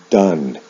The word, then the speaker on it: done: in the past participle the spelling of the ending is the same but the pronunciation is different o o-n-e with do is pronounced done o-n-e with go is